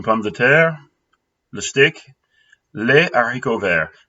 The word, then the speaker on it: haricots verts: de terre, le steak, les haricots verts. Do not have liaison for this one. Don't ask me why. It's just not the way you pronounce it.